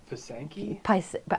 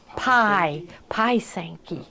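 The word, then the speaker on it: pysanky: And you also will get in it the directions for our, and how do you pronounce it? Pasanki? With it, somebody said P-Y. It's like pie Sanky.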